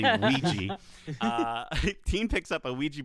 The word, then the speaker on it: Ouija: Teen picks up a Ouija board, which you'd think would be pronounced Ouija when you read it, but it's actually Ouija.